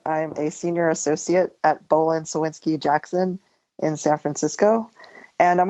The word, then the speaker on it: Bohlin Cywinski Jackson: I'm a senior associate at Bolan Sinsky Jackson in San Francisco.